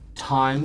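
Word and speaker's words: Thyme: Kincaid the Bard, Time, spelled like the herb, our druid.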